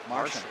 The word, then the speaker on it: Marchand: It's Marchand. Marchand. Okay. So it's like Brad Marchand without the D.